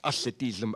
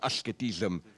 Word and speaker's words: asceticism: When he talks about, how do you pronounce it in English? Ascetism, asceticism.